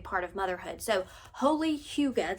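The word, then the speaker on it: hygge: of motherhood so holy Huga that's how that's pronounced for the longest time I thought it was pronounced H because I had no idea is Huga it is a Danish word and this says uh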